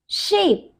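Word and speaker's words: shape: जैसे कि शेप, यस, शेप, name, fame. यहां पर देखिए, यहां पर हम इस ई को प्रोनाउंस नहीं कर रहे, क्या एसएच से बनता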